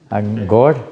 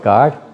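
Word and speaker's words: gård: Elvix Gourd. Gourd. Gourd. Guard. Gourd. Gourd. Gourd. Elvix. Gourd. I'm learn I learned that thing. I always called it guard before we have English pronunciation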